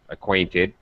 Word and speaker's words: acquainted: Acquainted. Middle stress. Acquainted.